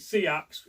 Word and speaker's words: seax: Sometimes we pronounce it Seax in Mersey where we come from because it's a different sort of pronunciation to the typical use of sax.